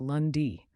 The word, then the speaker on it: lundi: week starts with Monday which in French is lundi it sounds like lundi remember the French week starts on Monday not